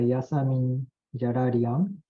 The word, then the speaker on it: Yasamin Jalalian: And the next speaker is Professor Yasamin Jarang. Am I right? Your pronunciation is correct.